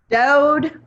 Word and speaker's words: Dold: And plus I'm from Kentucky. We don't pronounce the L's. So I say. Dode.